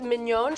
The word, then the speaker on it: Mignon: Again, this is Mignon chocolate, and it's spelled like a filet mignon, if you were wondering.